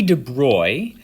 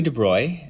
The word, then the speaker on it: de Broglie: bit in 1924 louis de bruy this is how it's said uh louis de bruy as a dutch person